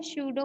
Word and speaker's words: स्यूडो: इसमें स्यूडो में P silent रहता है, ऐसे ही लिखा जाता है इसको।